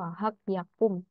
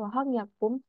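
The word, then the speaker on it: 화학 약품: Wahak tulisannya wahak yakum. Nah, bacanya wahang yakum.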